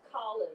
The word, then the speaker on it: Colin: ii changed his name before he was colin the british pronunciation that was used by the jamaicans and then a war hero emerged named colin kelly so to his friends on the neighborhood in the block he became colon powell but his family always